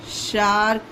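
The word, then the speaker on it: shark: डार्क उसी तरह से शार्क होगा एस एच ए आर के क्योंकि यहां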